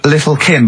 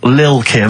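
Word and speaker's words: Lil' Kim: Now, Steve, I see there it's a track by Little Kim, but how are you pronouncing it? I'm pronouncing that correctly. Lil Kim. Oh, no T's involved.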